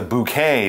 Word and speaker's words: bouquet: or a buch wet it's a bouquet because it's French anyway back in the